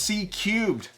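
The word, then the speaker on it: C³: The speaker is grabbing some technology from the 5000 series with a continuous curved woofer, pronounced C cubed.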